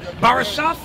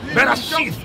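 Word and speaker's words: בראשית: Is that how you say it? Barashah? Barashith, it means what?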